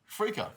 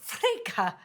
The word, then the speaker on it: freekeh: Freekeh. Freekeh.